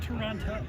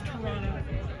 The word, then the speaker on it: Toronto: It's not Toronto, it's Toronto. That second T is silent.